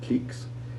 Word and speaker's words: cliques: Sometimes the U is silent, as in cliques and quoits, and we hear only a hard C sound.